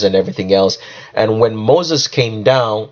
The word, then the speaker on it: Moshe: And when Moses came down, or the right pronunciation would be Moshe, when Moshe came down